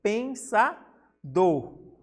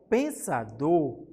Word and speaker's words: pensador: Como você fala pensador. O do aqui é a mais tônica, mesmo que não precise, né, acentuar, né? Mas, como eu disse, nem toda sílaba tônica precisa ser acentuada. E nessa palavra não tem acento. Então, pensador é um oxítona, porque o do, que é a última sílaba, ela é a mais forte.